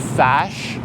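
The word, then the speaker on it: Fazz: And they says, well, you just need a Faz card. And I says, well, what the heck is a Faz card? They pronounced it Fash, but it's F-A-Z-Z.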